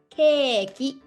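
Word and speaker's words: ケーキ: it's a long ball in english it's cake cake but in japanese it's called keki so for us it's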